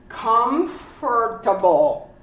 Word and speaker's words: comfortable: word but it's comfortable comfortable the o is silent completely comfortable comfortable comfortable vegetables